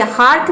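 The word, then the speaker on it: hearth: अब देखिए हार्थ में ई ए आर के बाद टी आया है, ये होता है टी एच, जब एक साथ आता है तो इसको हम था प्रोनाउंस करते हैं, तो ये हार्थ होता है।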